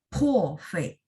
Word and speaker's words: 破费: P baca PH. 破费.